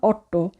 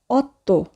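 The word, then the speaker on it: otto: থাকবো আমরা খুব কেয়ারফুলি উচ্চারণ করব সেই সেতে অত্য ইটালিয়ান ভাষায় টি কে উচ্চারণ করা হয় বাংলা ত এর মত এখানে কিন্তু আমরা বলবো না অট আমরা উচ্চারণ করব অত্য নভেল দিয়েছি ইতালিয়ান সংখ্যার 10 এর উচ্চারণ আমরা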